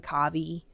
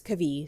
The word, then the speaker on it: Kavi: I was reading and saying Kavi, but it's Kavi.